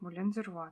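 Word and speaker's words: Moulin du Roy: on your love in бумага называется именно так мулен де рва так как производитель французский по правилам французского языка именно так стоит произносить название этой бумаге вы можете произносить как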